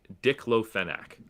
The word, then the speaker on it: diclofenac: Hold on, let me make sure I pronounce it right. It is diclofenac.